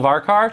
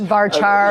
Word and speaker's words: varchar: And by the way, you'll also notice the pronunciation differences. Varchar, varchar. Well, I'm a Canadian, eh? Yeah, so I've always used the hard C, but in any event.